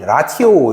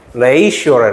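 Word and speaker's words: ratio: 나는 이게 처음에 발음이 라티오 이런 거잖. 라티오인 줄 알았어. 라티오. 라티오. 근데 이게 발음이 라티오가 아니래요. 이게 레이시오래. 레이시오. 레이시오.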